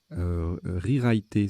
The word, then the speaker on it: rewriter: Rewriter, ça se prononce comme ça, R-E-W-R-I-T-E-R.